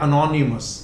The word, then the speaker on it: anonymous: जैसे कि यहां पर एक शब्द है, यह अनोनिमस। अनोनिमस का हिंदी मीनिंग होता है गुमनाम। ये इसका ब्रिटिश प्रोनाउंसिएशन है और मैंने आपको फोनेटिक अल्फाबेट में